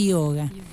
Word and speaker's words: yoga: el el yoga este se dice yoga porque la y no se pronuncia en sánscrito e se cumplió en